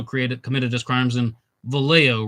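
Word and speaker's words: Vallejo: committed his crimes in valo right you don't pronounce the J I saw this in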